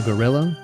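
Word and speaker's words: guerrilla: I am here now a gorilla like the animal well that's how it's said even though it's spelled differently they're called gorilla streams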